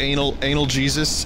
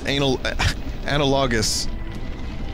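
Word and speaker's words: analogous: You know, all the words that I mispronounce? What was it? Anal Jesus? Analogus.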